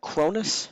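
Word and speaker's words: Kronos: So Cronus, am I saying it right? Cronus? Yes, you are.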